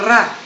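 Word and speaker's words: ر: mabibigkas in hindi ang ra hindi katulad dito ng English kundi ra ra nakatusok siya sa taas tusok niyo ro Okay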